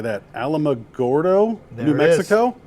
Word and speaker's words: Alamogordo: Alamogordo, There New it is. Mexico? Alamogordo, Okay, New Mexico.